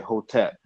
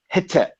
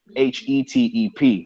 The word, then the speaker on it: Hetep: But before, of course, everybody would say Hotep. But now they've changed the pronunciation from Hotep to Hetep, Hetep, which, of course, if you know about the Medu Neter, the vowels are interchangeable.